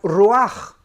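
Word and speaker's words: רוח: Es interesante que la palabra vientos aquí en el libro de Daniel, en el original hebreo es la palabra ruach, que se escribe ruach, que es la palabra para espíritus.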